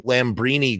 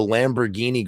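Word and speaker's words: Lambrini: I went to go see the Lamborini girls who I had mispronounced as the Lamborghini girls because if you read it, if you kind of site readad that word Lamborini, it kind of almost looks like Lamborghini.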